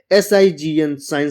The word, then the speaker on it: sign: जैसे SIGN साइन, साइन मतलब होता है चिन्ह। FEIGN फैन, फैन मतलब होता है ढोंग रचना। REIGN रेन, रेन मतलब होता है शासन।